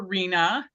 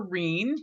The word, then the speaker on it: Rena: I'm Lorena Major, or Rena, or Reen, which rhymes with my brother's name, Dean.